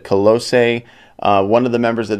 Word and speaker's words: Colossae: this new song and new band colosse and their single the seduction of influence now I think that's how you pronounce it colossae one of the members